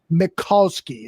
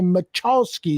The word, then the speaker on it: Mikulski: i want to say macholsky everybody does not a big deal i've heard much worse pronunciations it's all good yet think of mccall with mccall's magazine with the ski at the end oh excellent that's a